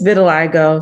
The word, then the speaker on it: vitiligo: so how do you how do you say it again have been a lego yeah it's vitiligo so of course i